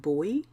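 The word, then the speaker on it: buoy: to give it up I think you pronounce it boy a boy effect b o u y um because this is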